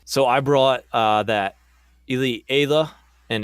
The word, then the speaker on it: Ayla: So I brought that Elite Ayla, and it is pronounced Ayla for all you listeners. It is not Ayla. You can go and watch Clone Wars for that.